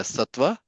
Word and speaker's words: sattva: Yeah, sattva.